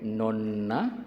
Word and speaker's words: nonna: gadis ya Non non Ya tapi kalau diucapkan dengan 2 n nonna itu nenek ya hari nonna nonna